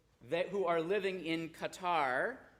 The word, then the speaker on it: Qatar: who are living in Qatar um gutter if you know how to pronounce it correctly um with their billions